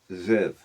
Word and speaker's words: Ziv: In English, Scripture calls it Aviv, which it's spelled A-B-I-B, but pronounced Aviv. Second month, Ziv, or Ziv, Z-I-V, in 1 Kings 6:1, calls